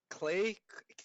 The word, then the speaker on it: Klei: So I went on there and Clay, Klei, Clay. I don't know how it's pronounced. KLEI, Yeah, Clay. Just say Clay.